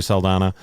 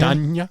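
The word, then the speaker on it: Saldaña: She has like the little symbol over the end, which is it Saldana? Danya? Is it Saldana? Have we been pronouncing it wrong the whole time? Gotta get the Enya in there.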